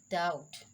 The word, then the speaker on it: doubt: lamb rule number two b is usually not pronounced before the letter t just like doubt b is silent here